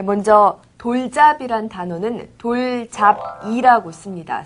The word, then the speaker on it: 돌잡이: 네, 먼저 돌잡이란 단어는 돌잡이라고 씁니다. 쓸 때는 돌잡이지만 말할 때는 돌잡이라고 발음합니다.